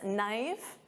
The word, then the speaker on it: knife: And of course, silent K on this knife.